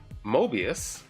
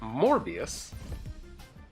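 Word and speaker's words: Morbius: So if they have a Mobius, I said it wrong, a MorbiiUS, then our enchantress works.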